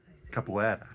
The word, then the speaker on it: capoeira: Capoeira. Capoeira. There you go. It's like In Portuguese. Okay. Or whatever. Try to throw the accent on for the pronunciation. It's like French and Spanish combined.